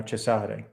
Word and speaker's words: Cesare: So the Italians, they would pronounce that name now Cesare, right? Like Cesare Borgia, Caesar Borgia.